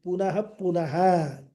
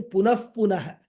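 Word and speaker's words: पुनः पुनः: Punaha punaha. This word, punaha punaha, or correct pronunciation, punah punaha, is a very significant word, meaning again and again.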